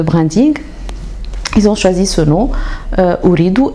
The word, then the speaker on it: Ooredoo: choisi selon holly doux écrit donc en anglais avec 2o et non pas 2 0 au début et de zoo à la fin non pas de zéro à la fin qui se prononce ou en anglais et read our head comme la couleur rouge donc la marque et